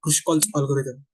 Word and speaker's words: Kruskal's: analysis and development of algorithms and specifically about kush's algorithm which is actually pronounced as kushal's algorithm so let's begin with an introduction to K's